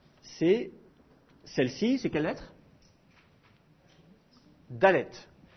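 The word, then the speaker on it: דלת: celle-ci c'est quelle lettre dallette le dallette est également concerné par ce phénomène s'il a un point dedans il est prononcé de façon occlusive de si il n'a pas de point dedans et avec éventuellement un RAF au-dessus il est prononcé de façon fréative alors ça donne quoi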